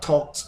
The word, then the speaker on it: talked: will have oh and talk talk yesterday I talked to the man talk talk talk talk because